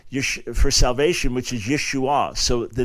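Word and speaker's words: ישוע: that originally was pronounced Yeshua and it's an ion at the end that's not pronounced in in modern Hebrew today and that at a certain point the final a was kind of lost and yesu and and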